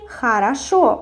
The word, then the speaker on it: хорошо: For example, we write хорошо, but we say хорошо with a.